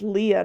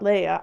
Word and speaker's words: Leah: It's Leah, not Leia. I don't know why I keep saying Leia.